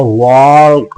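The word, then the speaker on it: walk: में है एंड और वक वक अराउंड वक मतलब होता है यहां पर एल साइलेंट होगा क्योंकि के से पहले एल साइलेंट होता है तो यहां पर वक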